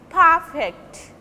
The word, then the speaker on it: perfect: Suppose in case of perfect, when this is noun, it will be perfect, and as a verb, perfect.